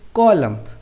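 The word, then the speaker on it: column: चलिए एग्जांपल देखते हैं कॉलम मेंस हाशिया यहां पर कॉलम में एम के बाद एन ए रहा है तो हमारा एन क्या रहेगा साइलेंट दूसरा एग्जांपल एटम मेंस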